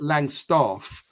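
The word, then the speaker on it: Langstaff: there's there's there's there's there's a invisible R in there is't there and you pronounce it Lang staff you don't do this Lang staff we're not living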